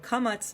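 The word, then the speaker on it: קמץ: bah bah bah bah so in in Sephardic or modern Hebrew pronunciation the Komets makes the same sound as the PATA so it would be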